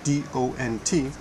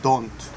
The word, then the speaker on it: don't: a word like don't d-o-n-t and it looks like it only has one vowel so many japanese pronounce it don't or won't but actually the vowel o here has three three sounds excuse me three important